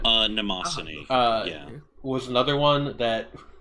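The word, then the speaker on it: Mnemosyne: Rin, Daughters of Nemesine, which I guess it's not actually pronounced that way, but I've always heard it as Nemesine. Nemosine.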